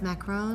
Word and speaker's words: macaron: Are those macarons? Macarons. Okay, because there's a difference in a macaron and a macaroon. Macaroon is a coconut cookie.